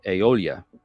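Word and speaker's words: Eolya: on Facebook at least I think it's pronounced uh aeolia e-o-l-y-a um really awesome singer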